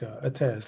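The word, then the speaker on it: עץ: uh the Hebrew word uh AZ or it's pronounced as like AZ like the the um ion and the zadi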